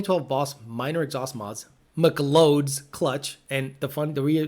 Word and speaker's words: McLeod: the rear the rear the reason I say Mik loads because Christian Papa actually says that's how it's spelled I don't care that it says McLeod it says McLeod's so from now on anytime you see a clutch McLeod its Mick loads so the McClouds clutch